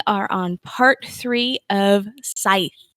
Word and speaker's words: Scythe: on part three of scythe i'm gonna pronounce right the entire time on here not sith despite jessica's obsession with